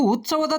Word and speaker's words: ಉತ್ಸವ: ಮಾಡಿ ನೋಡಿ ನಾನು ಆದ್ರೆ ಎಷ್ಟೋ ಜನ ಉಸ್ತವ ಅನ್ನೋ ಪದನೇ ಸರಿಯಾದ ಉಚ್ಚಾರಣೆ ಅಂತ ತಿಳ್ಕೊಂಡಾರೆ ಬಟ್ ಸರಿಯಾದ ಪದ ಏನಪ್ಪಾ ಅಂತಂದ್ರೆ ಉತ್ಸವ ರಾಜ್ಯೋತ್ಸವ ಎರಡು ಪದದ ವ್ಯತ್ಯಾಸ